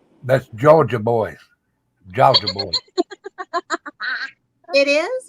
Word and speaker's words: Georgia: Jaga boys, boys with a Z. That's Georgia boys. Georgia boys. It is? It's pronounced Georgia?